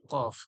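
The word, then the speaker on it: قاف: বলেন হয়তো সেইটা হচ্ছে কফ এইখান থেকে বের কফ জিবের গড়া ওর তালু যেখানে আলজিব্রা রয়েছে ছোট্ট একটা জিব যা আমরা বলি ওইখান থেকে বার হবে কফ কফ কফ মোটা করে কফ কফ এরপরে দেখুন কাফ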